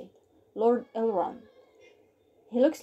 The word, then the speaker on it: Elrond: yes this is how you say it lord elrond he looks like a truck stepped on her